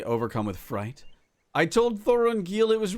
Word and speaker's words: Thorongil: Oh, Thorongil, not Thorenil. Thorongil, because you know, you need to put the right emposus on the proper syllable.